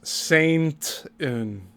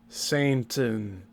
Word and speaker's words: Satan: He's continually mispronouncing Satan as Saintin. You notice that? Cuz I did. He said it several times now. Satan. He's not saying Satan. He's saying Saint in.